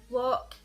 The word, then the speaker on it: Loch: So the words are butter, loch. I realise that this is supposed to be pronounced Loch, but I say it like Loch, and everybody shouts at me for it.